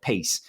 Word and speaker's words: Payce: But Ramco has launched what they call PACE, PACE, or PAYCE is how it's spelled, PACE.